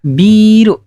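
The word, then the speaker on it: ビル: Ada biru. Kalau panjang, ini minuman keras ya, bir. Tapi kalau biru, ini gedung bangunan. Jadi hati-hati.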